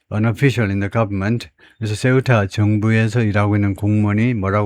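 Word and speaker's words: Ceuta: 그런데 세우타가 발음은 세우타라고 발음하고 어타나 오브스페인 스페인의 자치 자치 도시 그 행정적인 지위는 스페인의 자치 도시입니다.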